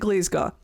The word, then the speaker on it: Glasgow: And this is how I know that you're local cuz you pronounce it glazega.